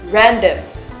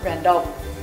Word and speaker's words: random: random remember that the later oh here is pronounced with a short buck sound not the shorter oh so let's say random not random via fair fair how for deep analysis